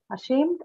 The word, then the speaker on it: ashamed: you have an unstressed schwa here. That's why. So Yeah. because of that, Sure. it goes to the second syllable shape.